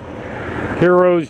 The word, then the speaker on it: gyro: Heroes, gyros, you know, spelled G-Y-R-O, but it's spelled hero.